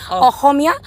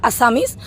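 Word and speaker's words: অসমীয়া: असामीज, अहोमिया, it's called अहोमिया, and English में अगर pronunciation होगा असामीज, और हिंदी में भी मतलब अहोमिया।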